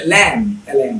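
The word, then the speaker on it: lamb: এটা আসলে লাম না, এটা আসলে ল্যাম, ল্যাম, ল্যাম, ল্যাম, থুম, ছুম, থাম, থাম, থুম, থাম, তারপর bomb, bomb, Lim, Lim, thumbnail, thumbnail.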